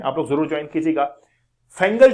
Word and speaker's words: Fengal: लोग जरूर जवाइन कीजिएगा फैंगल जो है वो basically pronounced a Faizal is like to make